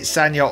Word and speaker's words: Sanja: both well it's it's it's with a j but it's pronounced as if with a y so sometimes you spell